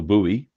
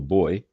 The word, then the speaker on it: buoy: What you guys call a buoy. We over here call a boy.